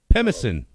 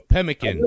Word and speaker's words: pemmican: meat mix it with animal fat to make pemesen pimason hmm pemmican sorry yeah what is that is a survival